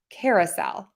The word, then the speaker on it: carousel: around in a circle so we're going to pronounce this with the schwa Cara Cara carousel Carousel Carousel so I